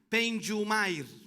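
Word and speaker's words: pneuma: La palabra griega se pronuncia penjumair.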